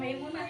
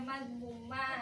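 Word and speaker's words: Mazmumah: Bukan Maimunah ya, Bu ya. Bukan, ini namanya Magmumah.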